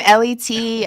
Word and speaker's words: Elite: that is my name it is spell Elite but it's pronounced let me awesome okay I'm